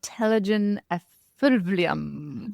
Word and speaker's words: telogen effluvium: Androgenic alopecia areata, and telogen effluvium.